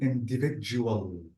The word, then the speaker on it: individual: Let's try to say in, this is in, and notice that D-I-V-I-D, this is J, J. So it will be individual.